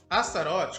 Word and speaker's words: Astarote: quero falar especificamente do nome Astro off astarote como é pronunciado em português é o nome de